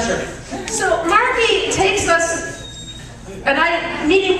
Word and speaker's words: Margie: However, my brother's soon-to-be wife, Margie, which, does anybody know anybody named Margie that pronounces the hard G like that?